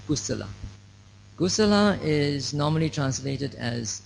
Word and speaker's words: kusala: kudo means good and kudo is actually a burmese pronunciation of the word kusala ghosala is normally translated